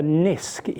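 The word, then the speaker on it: NISQ: that has been coined the Niska era it rhymes with RISC disk this term was coined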